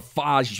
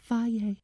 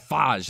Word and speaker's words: Fage: Today we're going to go over Fage yogurt.